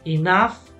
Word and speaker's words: enough: La pronunciación, enough. Enough. Como si fuera una F, ¿vale?